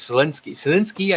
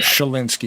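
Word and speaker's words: Schalinsky: and I'm going to Selinsky, I say it right? Shalinsky, yes. S-C-H, yeah.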